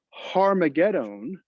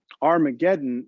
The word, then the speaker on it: Armageddon: in greek and so harmagedon is how it should be pronounced but when it got transliterated or moved from the greek alphabet that is into an english alphabet it became armageddon so har megiddo means mount megiddo or mountain megiddo armageddon is just really a mispronunciation of it so one of the